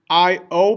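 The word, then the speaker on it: ió: El, ella is going to be I-O, pronounced io, but again, we now have an accent over that O.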